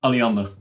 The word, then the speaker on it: Alliander: I'm probably butchering the pronunciation of that. Yeah, Alliander.